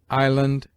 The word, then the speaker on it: island: S is mute in isle, island, domain, viscount.